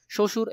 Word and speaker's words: শ্বশুর: আমরা জানি বফলা যদি সামনে থাকে তাহলে সেখানে কি হয় না, বফলার উচ্চারণ হয় না, তাহলে এখানে শ্বশুর এই শব্দের মধ্যে কি হবে, বফলার উচ্চারণ থাকবে না।